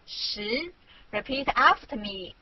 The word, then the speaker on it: 十: This is its syllable 十. Repeat after me 十.